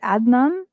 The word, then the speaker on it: Adnan: i get it right is it adnan yeah that's great that's great pronunciation yeah so uh welcome